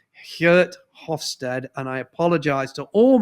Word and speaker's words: Geert Hofstede: that's research from a Dutch professor, and the Dutch folks will always murder me because I never pronounce his name correctly. It's Geert Hofstede, and I apologize to all my Dutch colleagues.